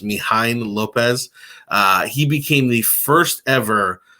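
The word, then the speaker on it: Mijaín López: First one is, I believe it's pronounced Mijain Lopez.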